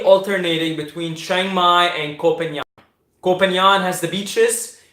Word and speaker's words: Koh Phangan: I have to get the pronunciation right. Koh Phangan.